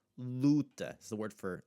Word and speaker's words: luta: The u is in that penultimate syllable. It's going to have the open sound that you're going to have there. Luta is the word for like a battle or a fight.